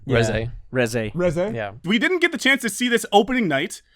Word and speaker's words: Reze: It's closer to the Japanese name. pronunciation of the name. Yeah. Reze.